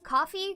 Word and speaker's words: Ko-fi: Is it coffee, Ko-fi, coffee? Coffee, but I mean, it looks like a coffee cup.